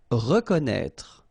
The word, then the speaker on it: reconnaître: Reconnaître. So exactly the same thing with this accent circonflexe on the top of E. You don't pronounce it, okay, but you should write it.